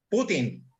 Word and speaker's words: Putin: Perdón, Putin, no es Putin. Yo no sé si el señor presidente de Rusia Putin, pero es Putin. Putin. Acento en la U, por favor. Putin.